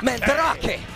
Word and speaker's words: Mandrake: That's why you roll the R's when you say his name. Mandrake.